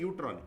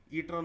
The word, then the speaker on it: E-UTRAN: हैं इसको, बोलना है यूट्रॉन। ई साइलेंट होता है यहाँ पर, मगर ई साइलेंट होता है, इसको यूट्रॉन बोलना है, ईट्रॉन नहीं बोलना है, यूट्रॉन बोलना है।